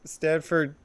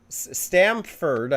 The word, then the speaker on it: Stamford: well it's funny because stanford connecticut is stamford is saying it wrong is a connecticut city